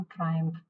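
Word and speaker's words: triumph: A feeling of great Joy, celebration, ट्रायम्फ। ट्रायम्फ बोला जाएगा इस वर्ड को, ट्रिम्फ नहीं बोला जाएगा। इसका प्रोनाउंसिएशन ट्रायम्फ है।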